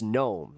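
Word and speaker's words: Noem: It's gnome like garden gnome.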